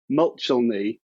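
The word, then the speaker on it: Muchelney: abbott of um and i'm always careful to try and pronounce this correctly because english place names can be so difficult but the abbot of mulchelny abbey in somerset we do have evidence of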